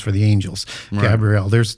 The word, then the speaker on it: Gabriel: And I say that just deliberately where I have a EL. Yeah. Why do you say it like that? Well, because in angelic names, they end with a Hebrew word, which is EL, which is defined as an angel or a god.